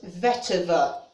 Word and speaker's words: vetiver: it was the vetiver or as it's spelt vetted it's v-t-i-v-e but it's according to google pronounce vetiver which okay if that's what